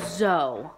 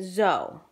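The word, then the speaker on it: Soel: And her name is pronounced Zoe. Kodo. My dog is getting into something. Anyway, Zoe. But it's spelled S-O-E-L. And she told me it was pronounced Zoe, like Z-O-E.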